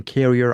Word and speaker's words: Carrier: And my apologies for mispronouncing Lillian, like Eric said, Lillian Carrier. I said Lillian Carter at the beginning.